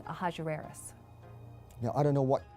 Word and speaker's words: Ahasuerus: Now that was hard for the Jews to pronounce, so they said Ahasuerus.